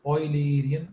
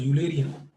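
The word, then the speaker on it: Eulerian: The second approach is known as oilerian approach. Some people pronounce it as ulerian but the actual actual is name is oiler not uler like high oiler.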